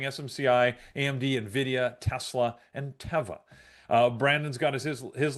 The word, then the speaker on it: Teva: on their website and it is called Teva, not Tea. So there you go. I can confirm Teva is the proper way to pronounce it.